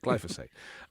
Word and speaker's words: glyphosate: That's how you say it, glyphosate.